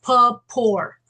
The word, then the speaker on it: Paupore: It's pronounced Paupore. Paupore. P-A-U, Paupore. Yeah, the Okay. P-A-U is a pa, and the E is silent. Paupore.